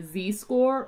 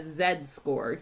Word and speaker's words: z-score: convert any scores to a z-score or a z-score you'll hear it pronounced both ways it's this two-step process